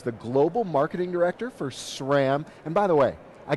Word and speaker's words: SRAM: at Shram listen carefully it's not it's not Shram it's not scram it's not spam exactly just sham sham is the right way to say it welcome to Good morning